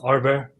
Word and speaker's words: Arber: start so hi there my name is in Albanian it's pronounced Arbor just to confuse the